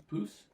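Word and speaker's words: pouce: Poose.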